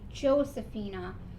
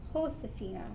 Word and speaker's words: Josefina: so that is why even though in english her name would be josefina really her name was pronounced josefina because in spanish the j is pronounced with as an h so this is the